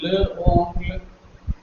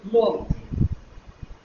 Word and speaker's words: l'oncle: When this is the situation, the E vanishes and an apostrophe is introduced for the ease of pronunciation. Instead of saying le oncle, it would be easier to say l'oncle. So we use l'oncle.